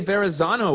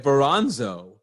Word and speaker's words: Verrazano: I couldn't even say Verrazano when I was 5. I would say like Veranzo.